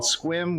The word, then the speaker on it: Sequim: of Washington State in a town called Squim, which is not spelled that way. It's spelled S E Quim M.